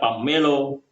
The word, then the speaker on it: pummelo: And this is even more doubtful if we look at the variants of the English names of 'Pomelo', such as; 'pomello', 'pummelo' (pronounced 'pammelo'), 'pommelo', and 'pumelo' (pronounced 'pamelo'), because in the Javanese language, there are almost no double letters in words or sentences.